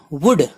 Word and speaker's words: would: WOULD would L silent ہے.